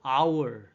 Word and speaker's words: hour: H가 발음이 안 돼요. 묵음이라고 하는데 아하고 발음 나거든요. 첫 첫 발음이. 그래서 몸으로 발음 나서 on hour.